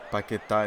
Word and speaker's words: Paquetá: Paquetá in Lyon was a good player, actually.